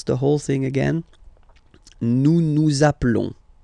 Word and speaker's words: nous appelons: Okay, nous appelons. And then little link would be perfect, so let's pronounce the whole thing again. Nous appelons. Nous appelons. Okay, final s doesn't exist.